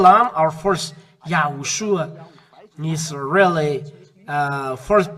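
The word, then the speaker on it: יההוֹשֻׁע: YAHHOSHUA.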